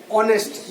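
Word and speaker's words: honest: ऑनेस्ट, यहाँ पे H silent है, ऑनेस्ट।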